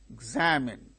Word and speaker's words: examine: For instance, examine, examine, examinee, photograph, photographer. See, the primary accent changes. In the word examine, the second syllable gains stress.